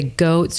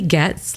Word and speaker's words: Goetz: And most people say Goetz or Goetz. And no, it is Goetz, like gets what she wants.